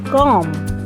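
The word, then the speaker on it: comb: second word c for com let's pronounce the word by letters c o m b but in this word b will be silent so we will pronounce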